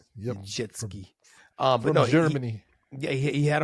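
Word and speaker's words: Niedzielski: It's Pyotr Nijelski. Remember his name? Nijelski. Nijelski.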